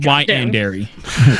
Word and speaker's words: yandere: Pronounced yandere.